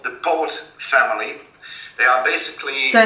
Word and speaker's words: Poot: Now, I found out through a little bit of research that there is this family, it's called the Poot family. They are basically... So how do you spell that?